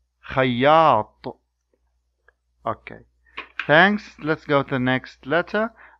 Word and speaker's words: خياط: خياط, خياط, خياط, خياط. Okay, now I will say the words again. You repeat after me. طويل, مطر, خياط.